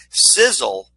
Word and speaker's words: Sisel: Sizzle is pronounced like a sizzling hot steak, but it's an acronym created by founder, billionaire Tom Mau.